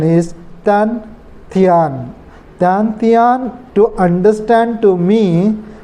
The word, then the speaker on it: Dantian: I think I'm not totally professional, but they do this kind of the exercises, respiratory technique, to strengthening to the Dantian.